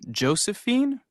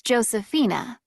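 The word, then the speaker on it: Josefina: just check this information is your first name Josephine actually it's Josephina it's spelled j o s e f i n a okay thanks and you're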